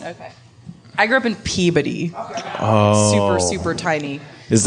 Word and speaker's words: Peabody: I grew up in Peabody oh super super tiny is that is that a town that's spelled differently than its name would suggest spelled p-e-e-b-u-d-d-y is how it sounds yes Peabody one Peabody